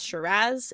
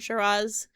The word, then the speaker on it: Shiraz: It's Shiraz. It's not Shiraz, right? It's just very much that flat A at the finish.